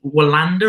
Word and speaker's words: Wallander: Obviously, The Witcher, and you're also working on The Young Wallander. Is that how it's said? I think that's how it's said in Sweden, but we just say Wallander.